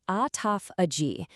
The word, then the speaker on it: autophagy: It's pronounced autophagy.